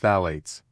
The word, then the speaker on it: phthalates: the family of chemicals called phates pronounced phalates.